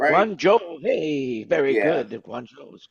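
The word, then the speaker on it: Guangzhou: Uh Guan Guan, I can't pronounce it. Guancho, is that right? Guanjo.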